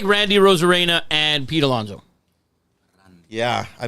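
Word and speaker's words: Arozarena: Arizona? Rosarena? Rosarena.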